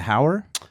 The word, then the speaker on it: Hauer: of the name so the best way I describe it to people is to be able to say just like say how are you you know how are